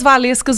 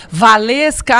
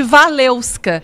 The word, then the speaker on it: Walewska: atenção durante o treino Valesca as duas olhavam ah diferenciar e nós duas o meu nome escreve exatamente assim como se pronuncia com os dois w e ele começou a